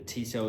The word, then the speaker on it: Tissot: I think it's Tissot, that's how you pronounce it.